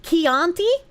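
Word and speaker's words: Chianti: Pronounced Keianti. Oh, Keianti wine.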